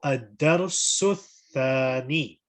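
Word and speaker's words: الدرس الثاني: So the sin is joining onto the tha. So ad-darsu thani.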